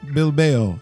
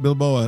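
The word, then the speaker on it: Bilbao: the Europa League athletic bill bell and it's not bill Bowa like Russell said earlier like Rocky it's not how you pronounce it is it mean some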